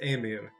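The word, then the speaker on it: Ymir: of yamir well and it's not said Jameer that's my mispronunciations it's a mere Amira was and it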